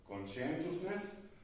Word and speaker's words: conscientiousness: the first one is conscientiousness not consciousness conscientiousness and it means the